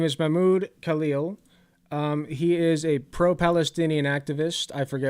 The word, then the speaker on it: Mahmoud Khalil: His name is Mahmoud Khalil.